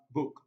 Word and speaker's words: book: well so it's wrong option c we have book book yes this is the correct answer this is the correct answer because option c has the shot ooh option d we have